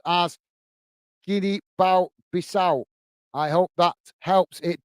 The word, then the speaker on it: Guinea-Bissau: And together pronounced as Guinea-Bissau.